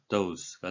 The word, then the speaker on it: dose: 발음으로 쓸 때는 예, 도스라고 이렇게 뭐 한글로 외래로 쓸수 있겠습니다만 발음은 이중모음으로 dose가 되겠습니다.